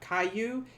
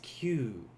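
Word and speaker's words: 九: q q remember this this kyu is one syllable in japanese it's not caillou it is q so like when you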